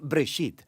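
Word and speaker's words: Bereshit: Génesis viene de una palabra hebrea, se pronuncia Breshit, simplemente significa principio.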